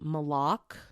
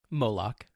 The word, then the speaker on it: Moloch: with ancient deities specifically moloch moloch that's what i said moloch moloch moloch okay there you go the emphasis on the wrong syllable exactly moloch and ball